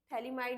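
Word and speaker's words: phthalimide: ये पूरा GPS reaction, Gabriel थैलीमाइड reaction, थैलीमाइड में पी से स्टार्ट होता है, थैलीमाइड का टी साइलेंट होता है, जीपीएस।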